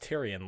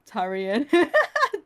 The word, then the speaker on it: Tyrion: Wait, how do you pronounce it again so I remember it? So Tyrion.